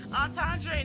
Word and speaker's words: entendre: Entendre, not entree, is crazy. First of all, you were pronouncing it incorrectly.